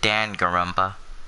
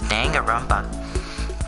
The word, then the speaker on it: Danganronpa: trigger happy havoc danganronpa or is it Dan Caramba no no they pronounces danganronpa hey wait a lot